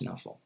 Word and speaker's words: Knuffle: how do you pronounce nuffle you can pronounce novel however you like but I pronounce it the Dutch way it means snuggle with a hard K like knackworst okay one last question